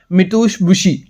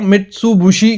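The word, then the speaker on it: Mitsubishi: लेकिन कूलिंग के मामले में अगर कोई एसी लेना है तो डेकिन ओ जनरल या मिथुश बुशी ठीक है मैं थोड़ा प्रोनाउंस गलत कर रहा हूं मित्सु बुशी का एसी आता है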